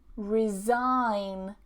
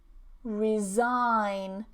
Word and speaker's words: resign: Resign, resign. The only difference here is that this is pronounced as a Z.